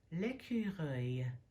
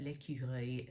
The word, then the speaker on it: écureuil: But l'écureuil, that E-U-I-L is not a sound that we have in English either, so they get us back, I guess, with that.